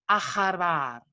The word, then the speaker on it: aharvar: So su madre que la había aharvar. So we pronounce that H a bit like a ch here.